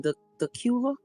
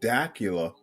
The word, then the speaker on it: Dacula: but she lives in dula is that far from you dula dula yeah the well I know right word I'm pronouncing it wrong don't worry about it I I called it Dacula like Dracula oh okay first time